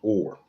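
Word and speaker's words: אור: Now when you go to that Hebrew reference number 216, this is the Hebrew word, and it is pronounced or.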